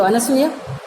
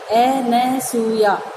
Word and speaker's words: अनसूया: ये 2 सखियाँ हैं शकुंतला की, एक तो अनसुईया और दूसरी प्रियमवदा। कई लोग इनका गलत उच्चारण करते हैं, अनुसुईया और अनुसुईया, और शुद्ध शब्द क्या है? अनसूया, जिसमें किसी तरह की असूया माने ईर्ष्या नहीं हो।